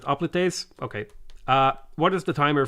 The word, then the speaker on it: hoplites: Hoplites are pronounced oplites.